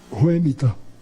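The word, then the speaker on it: Whemytta: Ela disse, Ruemita. Eu disse, e como é que se escreve? Ela disse, W-H-E-M-Y-T-T-A.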